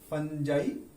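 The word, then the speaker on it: fungi: कुछ लोग फंजाई को फंगी भी पढ़ते हैं और एल्गी को एलजी भी पढ़ते हैं, but these are the most standard pronunciation, फंजाई and algae.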